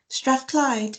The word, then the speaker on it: Strathclyde: Strathclyde.